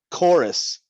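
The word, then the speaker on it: Korus: Chorus with a K. Chorus, as in like a group of singing people.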